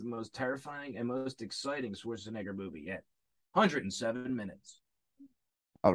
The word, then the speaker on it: Schwarzenegger: had to explain it like no it's it's it's spelled unfortunately that is just how you say his name um yeah yeah arnold schwarzenegger um was a good movie but yeah so